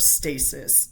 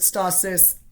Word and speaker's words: stasis: And that is the concept of stasis. Some people pronounce it stah-sis. Either way is okay, just to be clear.